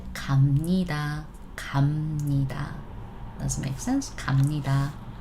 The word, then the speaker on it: 갑니다: Thing is, when we pronounce this one, it's supposed to be B, yes. However, we always want to say it softer in general. So 갑니다, no. 갑니다, tough to pronounce anyways, right? So we pronounce it 갑니다.